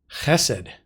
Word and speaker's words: hesed: that use that expression hesed note the accent on the first syllable so this is a